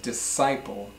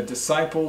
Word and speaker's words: disciple: CI PL e is not disc Eiffel but disciple a disciple is like a student or a follower of